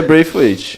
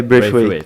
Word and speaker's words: Braithwaite: Eu acho que é Braithwaite. Bom, ele fez uma explicação quando chegou no Grêmio e é Braithwaite. Então vai ser Braithwaite. Eu vi no YouTube também, pesquisei no famoso nome do jogador /pronunciation e era assim.